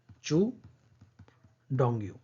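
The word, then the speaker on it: Qu Dongyu: ये क्यू लिखा है लेकिन इसका प्रोनाउंसिएशन ये होगा चू डोंगयू, ठीक है।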